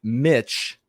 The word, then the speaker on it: Mitch: Last Tuesday, Senate Minority Leader Mitch McConnell, first name rhymes with another word, usually reserved for female dogs.